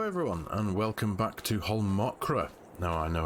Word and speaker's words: Holmakra: macra is actually pronounced it makes the a turn into an uh an O pronunciation so it's actually a whole mokra so thank you very